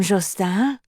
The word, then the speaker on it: Justin: Come, Justin. She said his name as it was meant to be said, in French. Soft J and long U, emphasis on the second syllable, the N silent, as she knew no